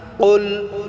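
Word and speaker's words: قُلْ: ফালাক প্রিয় বন্ধুরা আমার এখানে বড় কাফ আমাদেরকে উচ্চারণ করতে হবে এটা আমাদেরকে আইন গলায়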